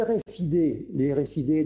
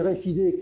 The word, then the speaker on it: RFID: Les RFID, donc prononcés à la française, hein, les RFID qui sont donc des éléments capables d'émettre des informations à des distances relativement importantes maintenant.